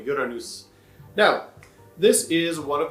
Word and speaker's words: Uranus: width welcome to uranus i like to pronounce it the swedish way uranus now this is one